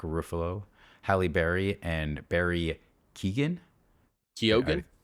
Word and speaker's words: Keoghan: Chris Hemsworth, Mark Ruffalo, Halle Berry, and Barry Keoghan. Keoghan? Keoghan. I'm not sure how to I think pronounce that's how you say that it.